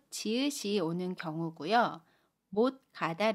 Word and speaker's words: 못 가다: 옷과 첫소리 기억이 만납니다 그러면 뭐 까다 라고 발음 에어 받침 시 옷은 아침 수리 이글스 로 발음하고 요 철 소리 기억은 까 로 된 조리로 받음 해요 그래서 못 가다 뭐 까다 라고 받음 합니다 단어 하나 더 볼게요